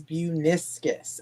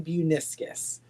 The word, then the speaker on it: Buiniskis: My last name is Buniscus. I tell everyone if you forget how to pronounce it like the meniscus in your knee hibiscus flower, but it's Buniscus.